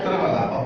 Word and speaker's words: Tiruvalla: I want to take you to Tiruvalla. Am I pronouncing okay in Kerala? Tiruvalla? Tiruvalla, okay.